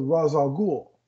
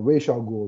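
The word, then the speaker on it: Ra's al Ghul: he teams up with raza ghoul or racial ghoul depends on whoever whichever version of it you'd like to pronounce it uh if you do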